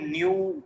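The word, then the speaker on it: ν: ये जो सिंबल है, जो टेढ़ा वी बना हुआ है, इसको हम न्यू प्रोनाउंस करते हैं, न्यू।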